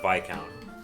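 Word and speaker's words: Viscount: go nuts because i i love and it's pronounced by count i just learned that like two weeks ago i love the vikon i'll tell you why it's a short range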